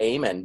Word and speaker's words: Amen: Well, not only that, but there's a doctor out there, and his name is actually his name is Dr. Amen, but it's spelled Amen.